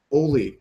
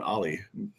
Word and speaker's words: Oly: Oli, James, we don't have time for this shit. I hate it. It's weightlifting. It's pronounced Ollie, by the way.